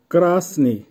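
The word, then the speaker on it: красный: ক্রাসনি, ক্রাসনির অর্থ হবে লাল, উচ্চারণ হবে ক্রাসনি।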